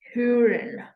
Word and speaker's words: hören: And O with umlaut makes the sound Ö. Ö. Ö. Okay, can you just repeat that? Ö. Ö. For example, so the character itself of that sound is difficult to type here now. But of importance is that you get the sound, which is Ö.